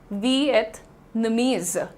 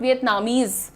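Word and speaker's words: Vietnamese: और प्रोनाउंसिएशन क्या हो जाता है यहां पर, इट is very simple, वियतनामीज, इट इज नॉट वियतनामीज, इट इज नॉट वियतनामीज, क्योंकि कंट्री का नाम डेफिनेटली वियतनाम है, the country is वियतनाम, बट the people of वियतनाम are called वियतनामीज, वियतनामीज।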